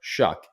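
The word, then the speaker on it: Shough: I know it's not it's not spelled like that at all but it's like shucking corn even though it looks like it's you know sh and then cough um it's Tyler shuck at quarterback um yeah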